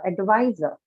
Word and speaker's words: advisor: Loop all right uh advisor advisor why advisor huh why because advisor though it's a noun it has derived itself from the verb advice verbs take it on the second syllable hence uh we know